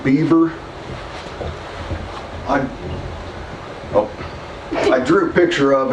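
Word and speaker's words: Bever: The Ohio paper mill was started in 1806 by a man named John Beaver, and his name was spelled B-E-V-E-R, but everybody pronounced it Beaver.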